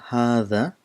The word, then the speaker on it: هذا: this letter there is you have to bring in your tip of your tongue just in front of the teeth in or do it's